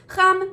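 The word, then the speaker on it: חם: So the adjective that you're going to learn today is hot or warm, and it is pronounced cham, masculine, or chama, feminine.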